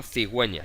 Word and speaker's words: cigüeña: ceguera conseguir llegue etcétera cuando tenemos diéresis es decir cuando ponemos los puntitos encima de la u después que siga es muy sencillo cuando pronunciamos wii wii que son palabras en excepcionales son sonidos suaves también entonces los dos puntitos la diéresis y producir eso significa que tenemos que pronunciar la u por ejemplo cigüeña siempre